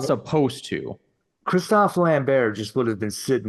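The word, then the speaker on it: Christophe Lambert: follow the lore or they're not supposed to Kristoff lanber just would have been sitting in there waiting that is the correct way to pronounce his name and I hate it yep Christoper Lambert yeah I mean that's kind of uh there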